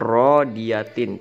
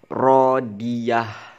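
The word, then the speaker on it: راضية: Jika dibaca jangan rodiatin, tapi dibacanya dengan mematikan huruf terakhir ini. Rodiyah, cukup gitu aja.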